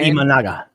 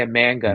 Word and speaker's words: Imanaga: Shota Imanaga. Yeah. I always want to say a man gun.